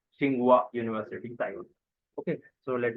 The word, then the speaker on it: Tsinghua: The name of university is National Tsinghua Xing like the this is silent Tsinghua University Taiwan okay so let me open it.